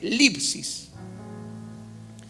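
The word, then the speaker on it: θλῖψις: La palabra tribulación es la palabra griega lipsis, lipsis, así se llama. No cuesta pronunciar eso en español, pero es lipsis, que significa aplastar.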